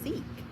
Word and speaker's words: Sikh: Pronunciation. It says seek.